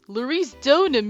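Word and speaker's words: Larice Deauxnim: Larice Donim! You gotta, like, pronounce it all French and stuff.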